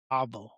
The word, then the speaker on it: AVO: We are calling it Avo, pronounced Avo.